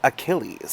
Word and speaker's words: Achilles: Correction, it's pronounced Achilles by Maline Miller.